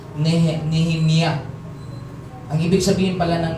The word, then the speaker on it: Nehemiah: The name is pronounced Nehemiah.